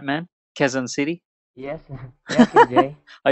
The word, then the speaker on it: Quezon City: Did I pronounce that right, man? Quezon City?